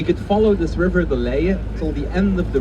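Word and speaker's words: Leie: and the legend now in dutch we call the list delay that's very hard to pronounce for english-speaking people i'll give it a try anyway we could follow this river the layer till the end of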